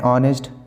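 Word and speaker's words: honest: एन का इस्तेमाल हम ऐसे वर्ड से पहले करते हैं जो क्या एच से शुरू होता है लेकिन एच उसमें क्या होता है? साइलेंट होता है और उसकी आवाज़ क्या होती है? वॉवेल सी होती है।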